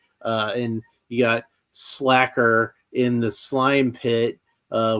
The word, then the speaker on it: Sla'ker: Uh, I'm pretty sure it's pronounced slacker because of the placement of the apostrophe.